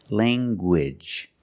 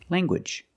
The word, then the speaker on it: language: nasal sound Lang and the hard g g language language I have one language two languages I speak